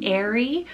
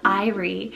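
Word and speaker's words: Aire: of two pronunciations here you can do arie or irie and this one directly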